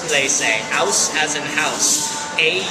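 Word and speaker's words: Auslese: more potential alcohol the next level is called they say as in house a u s l e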